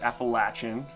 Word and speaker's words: Appalachian: First, I would say it's Appalachian, is how we pronounce it in the southern Appalachian area.